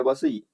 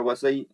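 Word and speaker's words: Vasai: Treaty of बसीन यानी बसई। बसई जो कि बसई भी बोलते हैं। उसका प्रोनाउंसिएशन बसई और वसई भी होता है।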